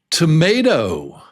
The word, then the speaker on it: tomato: Yes, it's 3 syllables, 3 beats, tomato. And the strong one is may. Yeah, it's the long A.